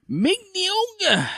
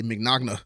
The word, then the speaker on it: Mignogna: So Mignogna. I was about to say McNogna. Okay, oh, like eggnog. Yeah, that's it. Eggnog.